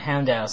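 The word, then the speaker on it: Houndour: uh it was oh it's actually more like houndous so i pronounced it very wrong though sorry uh logan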